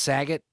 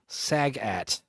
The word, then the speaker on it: Sagat: Is it pronounced Saget? Like Bob No. Saget? No. Sagat.